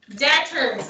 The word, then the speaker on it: debtors: wouldn't pay their bills so they're called debtors debtors i always say tours because this is how it's spelled debt step is debtors now georgia was